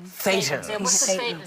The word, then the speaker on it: thetan: So tell us what that is, and the concept of, and I don't want to mispronounce it, thetans? Thetans. Thetans.